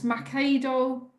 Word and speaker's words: Machado: well but it's uh how do you say you're it's Macado um so m-a-c-h -a-d a